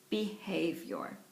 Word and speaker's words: behavior: word number one is behavior as behavior behavior okay behavior and as you can see I'm stretching the rubber band on the esk accented syllable behavior okay and that is